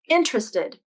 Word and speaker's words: interested: word interested interested but the more common pronunciation is interested as three syllables interested this isn't a